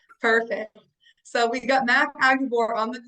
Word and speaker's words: Aguebor: to say it wrong just think of a Texas Aggie writing an Arkansas Board all right perfect so we've got Matt agabor on the call with